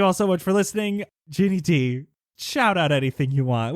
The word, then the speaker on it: Ginny Di: You can find me on many places on the internet under the username It's Ginny D. D-I, like Princess Di, but pronounced differently because Ginny Di sounds really accusatory.